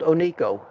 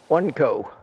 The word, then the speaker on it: Oneco: Well, when you look at it on a piece of paper, it looks like one company, one CO.